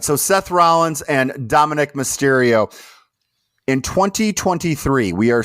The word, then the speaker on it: Dominic Mysterio: But I'm pretty sure it's Dominic Mysterio, not Dominique.